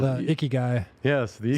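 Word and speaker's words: ikigai: japanese have something kind of similar called the icky guy yes this is how you pronounce it yeah yeah it's the the reason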